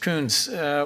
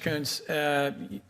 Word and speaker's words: Coons: Coons, is it pronounced the same way mine is?